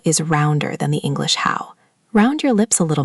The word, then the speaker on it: hǎo: Now the second syllable, how. Initial h, final ow, and again that dipping tone three. How. Your turn. How. Like the English word how, but dipping.